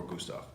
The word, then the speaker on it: Gustav: T o FF for Gustav it rhymes it off Gustav and I won't give